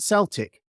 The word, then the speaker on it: Celtic: it's a K, and there's no way you can pronounce a K as an S.